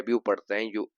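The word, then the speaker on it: debut: इसे D-E-B-U-T लिखा जाता है। लेकिन इसका उच्चारण 'डेब्यू' है। आपको 't' पर जोर नहीं देना चाहिए। अन्यथा, यह 'ऋण' बन जाएगा।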